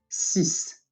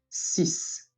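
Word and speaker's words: six: 6. Once again. 6. The X at the end of the word, it is pronounced as an S.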